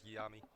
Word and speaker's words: Yami: Oh, and it appears I've been mispronouncing some of the players' names, so it's Jay and Yami.